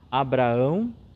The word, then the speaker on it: Abraão: Claro que na pronúncia nós não vamos salientar Isaque, mas nós vamos estender um pouquinho a Abraão, Isaque e Jacó. Então estender um pouquinho porque ali nós temos sim 2 As.